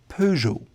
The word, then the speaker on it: Peugeot: When you look at the name first, you may think of it as Peugeot, or German would be Peugeot, but it's called Peugeot. In French, the E and T are silent, unlike in German, for example, and the G becomes that soft J. Peugeot.